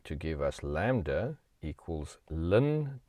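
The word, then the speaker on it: ln: by l n 2 which we call lin 2. now i know linda's l i n phonetically but we're going to just say lin log base e is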